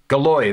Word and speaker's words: Galois: uh everest gala galwa galois galois that's how you say it i'm getting rusty on